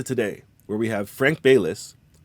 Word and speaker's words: Baylis: This leads us to today, where we have Frank Baylis, pronounced Bay, like the store or the body of water, and Liss, like lisp, but without the P and without a lisp.